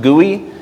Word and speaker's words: GUI: heard that term before GUI pronounced GUI stands for graphical user interface which just is the